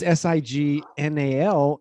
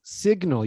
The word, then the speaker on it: signal: in this exercise, because if it's just S-I-N-G, it's sign. But if it's S-I-G-N-A-L, it's signal. You actually say the G.